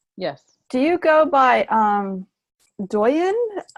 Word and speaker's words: Doyin: Doyin? Yes. Doyin.